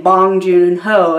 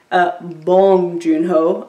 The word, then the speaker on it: Bong Joon-ho: was saying I am American I was saying bong joon-ho and I said like five times and then